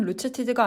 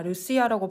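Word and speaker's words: Lucia: 도움을 줄 수 있습니다 루시아는 루츠치즈가 아니라 루시아라고 발음하는 거야 네 죄송합니다 루시어는 스웨덴어로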